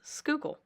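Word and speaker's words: Schuylkill: do you pronounce that because if you see it it's a really weird looking word yeah it is but it's skookle it took me a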